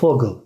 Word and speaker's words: Vogel: Ama diğer mesela Vogel kuş demek. Biz orada V'yi F şeklinde ya da Vater baba demek. Biz onu V'yi F şekliyle okumuş oluyoruz arkadaşlar.